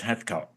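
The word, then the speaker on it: Heathcote: mean anybody listening to this um check out heot Williams oh well yes I'm spell Heath coat but it's pronounced heot heat Williams yes so then just going back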